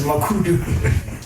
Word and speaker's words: Makhudu: His surname is can't pronounce it, bro. It's like Moema Tatele. So that's where I'm from. So it's Makhudu.